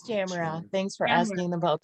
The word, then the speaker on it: Tamara: Is it Tamara? From the Netherlands. Yeah. It's Tamara. Thanks for Tamara. asking about the pronunciation.